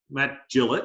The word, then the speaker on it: Gillett: Matt Gillett, I always say Gillett, sorry. Rhymes with fillet, he used to say.